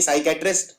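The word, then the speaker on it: psychiatrist: exam में आती है क्योंकि इसमें पी साइलेंट होता है क्योंकि साइकेट्रिस्ट जब जब हम बोलते हैं तो साई पी नहीं पी का उच्चारण नहीं किया जाता तो एक गलती तो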